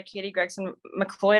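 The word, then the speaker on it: Katie Gregson-MacLeod: I mean, you get some awesome, like, Complex by Katie Gregson McLeod, I believe is how you say her name.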